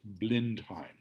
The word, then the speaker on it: Blindheim: at a town called blindheim next slide so the next slide will show the this is an etching of the battle of what became known as blenheim it was a mispronunciation of blind time a little town outside